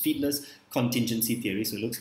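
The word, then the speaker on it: Fiedler: first one is called feedlet feedless fit fightless feedless i believe it's pronounced feedless contingency theory so it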